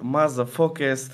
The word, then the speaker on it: MAZA4KST: или мазать или как правильно говорить правильно правильно говорить мазафака СТ это означает Моника означает